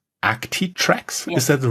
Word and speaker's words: Actitrex: As the people who are watching this can already see, your company is called Actitrex. Yes. Is that the right pronunciation?